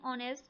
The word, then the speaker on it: honest: In honest, the H is silent, so it starts with a vowel sound, and correct article is N.